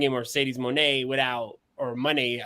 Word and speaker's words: Moné: But like I said, you don't bring in Mercedes Moné without, or money. It's pronounced money or Monet. Money.